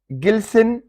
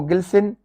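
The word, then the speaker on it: glisten: गिल्सिन, चमकाना किसी चीज को, गिल्सिन। रेपो, रेपो, इसमें टी साइलेंट है और आर का साउंड भी बिल्कुल हल्का सा आखिर में करना है, रेपो।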